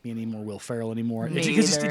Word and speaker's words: Ferrell: And no, when I saw Will Ferris. How do you say his name? Will Ferrell.